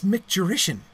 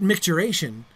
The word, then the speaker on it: micturition: It's micturition with an I instead of an A, isn't it? Isn't it the correct term, micturition? But micturation is a common error. Micturation is a word in use, but it's a word in use that originates from an error, just like a spelling and pronunciation error of micturition.